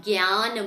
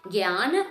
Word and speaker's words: jnana: in the North India how you say it in Sanskrit Guiana mudra okay jana or jnana mudra so Nia chin mudra